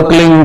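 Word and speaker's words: क्लीं: एक शब्द क्लीन शब्द क्या आधा लय में मिला हुआ, बड़ी की मात्रा और बिंदी, उसका उच्चारण होगा क्लीन गा की ध्वनि निकलेगी पीछे।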